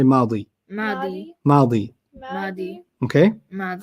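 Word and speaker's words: ماضي: Past is madi. Madi. Like Maddie.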